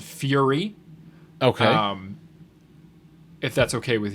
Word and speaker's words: Furie: It's spelled Furie, Fury.